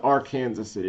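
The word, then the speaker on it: Arkansas City: We we pronounce it R Kansas City. It's spelled Arkansas.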